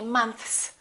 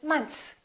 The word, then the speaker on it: months: even for native speakers most americans don't really say months they kind of eliminate the th and they just say months one month two months